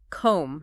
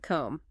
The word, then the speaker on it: comb: like the word comb you don't pronounce the b at all you don't it's just comb not comb exactly so if you're